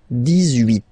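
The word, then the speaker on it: dix-huit: 17, 17, okay, then 18, so you will make this little link between the two, the liaison, 18, 18, 18, okay,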